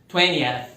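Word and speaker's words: twentieth: No inglês americano, aquele T no meio some também na pronúncia, 20th.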